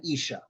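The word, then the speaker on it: איש: put it together right ish and Isha they sound the same the difference between them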